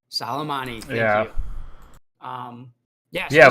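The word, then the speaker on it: Soleimani: God what was I don't know how to pronounce his name but uh salmani salamani thank you um yes yeah but I I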